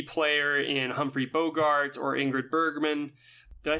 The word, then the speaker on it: Ingrid Bergman: Around the horn, just amazing performances, whether it is a key player in Humphrey Bogart or Ingrid Bergman. Did I say her name right? Ingrid Bergman? Ingrid Bergman, yeah.